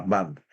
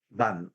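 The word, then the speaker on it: Bund: BAN de 10 años, así se le llama, BAN. Se escribe B-U-N-D, B-U-N-D, BAN, le dicen.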